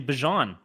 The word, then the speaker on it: Bijan: It's actually Bijan.